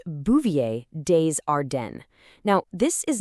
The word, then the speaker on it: Bouvier des Ardennes: And just so you know, it's pronounced Bouvier Dearden.